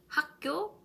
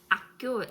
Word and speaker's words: 학교: Mais si vous prononcez comme 학교, comme les Français, les personnes francophones qui ne prononcent pas H, 학교, 학생, genre, on comprend bien sûr, mais c'est pas correct.